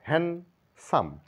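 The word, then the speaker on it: handsome: chip হ্যান্ড নয় হ্যান্ড কারচিপ হ্যান্ডসাম নয় বলবো হ্যান্ডসাম ডি এখানে সাইলেন্ট হ্যান্ডসাম ওয়েটনেস ডে নয় ডে টা উচ্চারণটা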